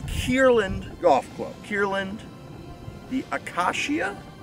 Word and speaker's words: acacia: third hole of kierland golf club kierland the akashia akasha a-c-a-c-i-a my pronunciation out here in general has not been